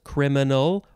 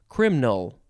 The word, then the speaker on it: criminal: You could have it be three syllables, criminal, or two syllables, criminal.